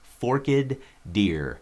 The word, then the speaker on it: Forked Deer: And yes, that is how you say it, Forked Deer.